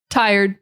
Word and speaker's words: tired: I want you to say tie, and then I want you to say erd, not red, erd, It's just an ER, erd, tie, erd. That's it. Tired.